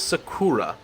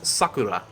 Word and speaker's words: sakura: thought okay the word the japanese word for cherry i always thought it was sakura um it's not of course that is the ignorant american way of pronouncing it it's sakura and i had no freaking